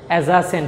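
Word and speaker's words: adjacent: তারপর অ্যাজাসেন্ট টু, এখানে ডি উচ্চারণ হবে না।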